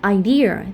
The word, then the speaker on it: idea: Even though police and idea, they are all noun, but we stress at the second syllable.